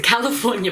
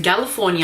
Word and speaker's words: Galifornia: Now, I've been telling you all that this is the California blush, but then I saw on someone else's YouTube that they pronounce it Galifornia, and then I actually read the packaging and it's a G, not a C.